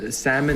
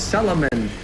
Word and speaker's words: salmon: the way they pronounce she pronounce salmon as Salomon I'm like Mom the L is silent she's like no it's